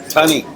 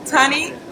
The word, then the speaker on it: Tunney: Tunney. Tunney. Rhymes with funny. Funny. Or money.